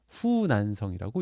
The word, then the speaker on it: 후난성: 여기 뭐 동종호, 파양호, 태호 해갖고 뭐 이런 호수들이 있는데 큰 호수들이 있는데 이 호수들의 남쪽에 있는 성이다 해서 호남성 해갖고 후난성이라고 이렇게 발음을 합니다.